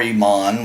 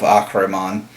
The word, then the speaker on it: Ahriman: big speaker for our Iman which is an improper pronunciation of ockerman learn to use the Semitic language if you're going to use name from the somatic region anyway on top of